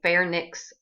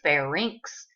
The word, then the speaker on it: pharynx: um commonly mispronounced words most people will say fairnicks and larnix well don't be one of those people because you don't have them you have a pharynx and a larynx all right so the